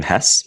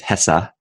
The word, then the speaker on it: Hesse: is Dana by Herman I always pronounce his last name Hess but I just looked it up and worth chatting about this looks like it HESA Herman Casa and like